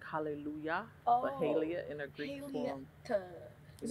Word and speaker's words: Haillie: How do you pronounce it? My own research. Yeah. My name is Haillie. I didn't know. I wasn't trying to. Haillie.